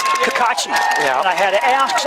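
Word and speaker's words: Cacace: his name is spelled caca c-a-c-a-c-e and it's pronounced kakachi yeah i had to ask i don't want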